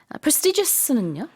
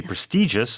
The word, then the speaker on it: prestigious: prestigious는요? Yeah, there's two ways to pronounce this. You could say prestigious or you could say prestigious.